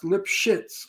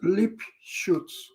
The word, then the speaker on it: Lipschitz: The Americans pronounce Lipschitz like that, but in German it's not pronounced that way. How is that pronounced? I never. Lipschutz. Oh, Lipschutz. Okay. Lipschutz. But the stupid Americans like the shit pot. And they say Lipschitz.